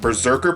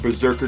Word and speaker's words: Brzrkr: And this series is called Brzrkr, but it's spelled B-R-Z-R-K-R.